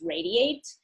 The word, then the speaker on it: Radi8: our adi and the number eight but it's pronounced radiate and the number eight is in there as